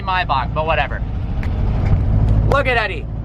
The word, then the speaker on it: Maybach: You guys don't like the way I pronounce Maybach? Then I'm gonna call it Maybach. Just kidding. Maybach music. It's actually Maybach, but whatever.